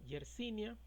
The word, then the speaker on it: Yersinia: cine a esto clasificaron se pronuncia yersinia en honor al bacteriólogo francés jersey quien fue el primero